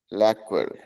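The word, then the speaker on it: lacquer: है चलिए बोलिए अच्छा अच्छा इसका प्रोनाउंस इसका प्रोनाउंसिएशन सुन लीजिए खाली उसके बाद आप बोलिएगा लैक्व यहां पे नहीं बोल रहा चलिए आप बोलिए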